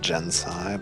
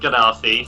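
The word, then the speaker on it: Genasi: It's spelled Ganassi, so that's your first problem with Gensai.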